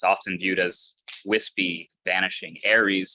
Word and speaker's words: Ares: Ares sounds like the word air.